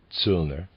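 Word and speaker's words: Zöllner: tilner's examples readers aside zilner is spelled z-o umlaut l l n e r z sulner and the reader's aside here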